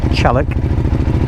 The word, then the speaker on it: Challock: and kin up towards Chalik which is spelled chock I know but everyone calls it Chalik um the Stag which